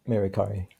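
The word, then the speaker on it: Merikare: I thought it was interesting you point out in the Egyptian teaching for King Maricare, how do you pronounce that? Yeah, Maricari.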